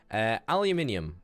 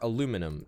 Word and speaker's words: aluminium: Aluminium, or aluminum to all you American people who say it wrong.